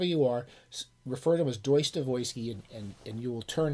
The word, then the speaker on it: Dostoevsky: who went to grad school call it called dostoevsky the proper russian pronunciation is deutsche voisky so if you want to show off how clever you are refer to as joyce devoisky and and you will turn heads in the